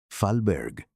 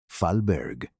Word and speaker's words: Fahlberg: Fahlberg. Fahlberg. Acento en la primera sílaba.